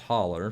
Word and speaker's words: Hollow: called butcher holler it's it's spelled hollow but it's pronounced holler for those in kentucky